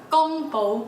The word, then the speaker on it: 宮保: pao chicken for dinner in Cantonese it can be pronounced as gumbo anything it is a